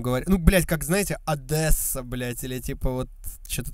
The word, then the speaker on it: Одесса: Город называется Одесса и произносится через «е», и они бесятся, когда кто-то говорит «Одесса», блядь.